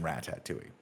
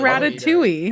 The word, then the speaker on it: Ratatouille: rat tattooing right does how did you say it like that tattooing how do you feel like what is this ratatouille that's right you can pronounce it with all of its letters or rank it higher